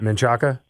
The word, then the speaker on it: Menchaca: do you say his last name Christopher menchaca man Shaka it was those two yeah okay but that